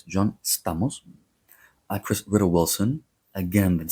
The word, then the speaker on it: Stamos: Director Alexander Payne, actor Ralph Macchio, from Karate Kid, actor John Stamos, as you say in the United States, but it's John Stamos.